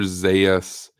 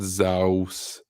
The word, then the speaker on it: Zaius: see Chris Redfield says his name is pronounced dr. Zaius not Zeus Ziya Zaius is a